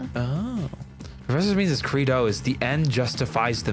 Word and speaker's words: credo: Is it like a creed? Credo. Credo. Credo. Yeah, credo. Oh, professor means credo is the end justifies the means.